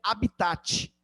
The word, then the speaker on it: habitat: vou falar de habita você escreve habitat beleza mas a pronúncia correta é habita muito bem o habitar